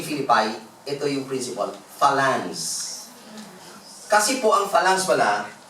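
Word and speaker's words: phalanx: Ang tawag po dito is falance medress lang falans. Tin ko sa dictionary. Ang hirap namang i kwan nito i-pronounce falan p h a l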